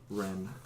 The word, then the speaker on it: Wren: How'd you spell that? I think that's supposed to have an accent. T-I-E-N-N-E. E-T-I-E. N-N-E. And then Wren.